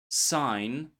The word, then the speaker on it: sign: Sign.